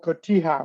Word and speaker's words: cotija: It's called cotija. I'm going to show you how it's spelled.